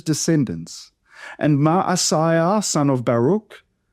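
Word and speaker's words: Baruch: And Malay, son of Baruk. Again, there's no ch. It's a C. Baruk like in the word lock or echo.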